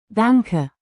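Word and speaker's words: Danke: Danka.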